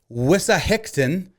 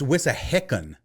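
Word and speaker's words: Wissahickon: I think I threw a little T in there. It's whisicken. There's no T.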